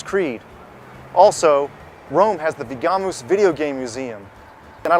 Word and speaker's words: Vigamus: And what do you do here at is it pronounced Vigamus? Vigamus. Yes.